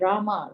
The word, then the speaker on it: Rama: mantra or great mantra area and rama rhymes with drama are sanskrit words hari